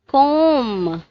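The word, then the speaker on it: comb: Next one इज क्लाइम, जिसमें B silent है. कोम, जिसमें बी साइलेंट है.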